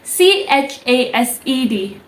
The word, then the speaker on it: chased: like or chaste tea so it's chased like c-h-a-y-s-t it's pronunciation is like that chaste so at the ending you are supposed to say Ting not deep and that's how you can